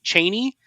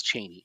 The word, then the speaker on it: Cheney: So I do think it's Cheney, if only because, from what I understand, she's originally British.